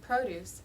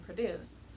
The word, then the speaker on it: produce: pronounce the differences between produce and produce when the stress is on the first half it's usually a noun and when the stress